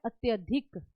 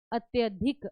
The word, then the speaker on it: अत्यधिक: इसमें शुद्ध जो शब्द है वो हमने चूज करना है, तो इसका जो सही आंसर है वो है अत्यधिक। अत्यधिक, अत्याधिक नहीं होता, इसको उच्चारण के कारण